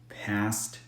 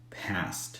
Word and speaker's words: passed: d past and then try to say it with the T passed past past it's almost impossible to notice the difference I'm through obeying every